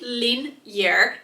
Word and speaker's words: Linjer: So the name is pronounced Linjer in Norwegian. However, it's pretty much the same way as you would pronounce linear in English.